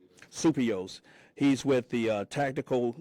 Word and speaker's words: Souppios: Uh uh Supio, I'm sorry, I mispronounced your name. Supio.